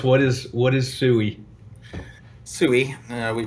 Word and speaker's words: SEWE: so tell us what is what is sooie sooie we pronounce it down here in the low on